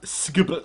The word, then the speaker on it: SGP: Today we're looking at another product from SGP Store, SGP Store. I know I've made the joke about mispronouncing their name before by saying it phonetically instead of the acronymical way.